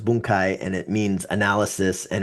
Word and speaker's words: bunkai: Well, yeah, because it sounds like bunk and uh and you're supposed to be pronounced boonkai and it means analysis